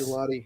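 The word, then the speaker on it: Gillotte: This Louisville edge guy that the Chiefs took, how do you say his last name? Is Gelati? Yes. Gelati. Yep. Italian ice with frozen yogurt on it.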